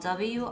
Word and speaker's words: wrist: The next spelling word is spelled W-R-I-S-T. It's pronounced wrist, and the wrist is the part of your body that connects your arm and your hand.